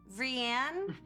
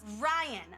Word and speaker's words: Rianne: And this girl shouts from the back of the class, Ryan. My name is Ryan. It's not that hard. It's Ryan. Right? Well, you spell it funny.